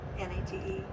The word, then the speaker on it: Neat: saying Nate but it's n-a-t-e or n-e-a-t yeah it's a little confusing yeah the original spelling was n-e-a-t so it looks like neat but it's pronounced Nate so George Nate and